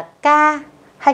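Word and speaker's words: ㅋ: Phụ âm này cách đọc rất đơn giản, các bạn sẽ đọc là chữ K nhưng mà các bạn đọc bật hơi hơn một chút thì là chuẩn. Kha.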